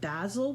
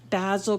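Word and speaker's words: Bazzill: And I have been lucky to find some great color selection on what's called basil paper. It's spelled BAZZL.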